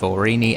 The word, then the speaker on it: Aurigny: island of gy with orini Air Services the g is silent security was pretty quiet